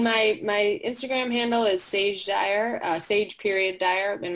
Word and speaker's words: Saje: my Instagram handle is sage Dyer Sage period Dyer and my name is spelled si je which is confusing most people think it's a G I have a children's